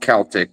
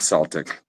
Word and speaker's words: Celtic: it's pronounced yep it it is pronounced Celtic not Celtic but I mean unfortunately